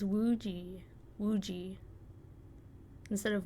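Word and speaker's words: Woozi: Instead of Woozy? Woozy? Wooji? Or is that just like the... I don't know if that's how they say, like they pronounce the Z as like a J almost. Or if that's just like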